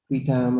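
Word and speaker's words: qui tam: So, and whistleblowers go back, some people say quitam or quitam, however you want, you're the Latin expert, how do you say it?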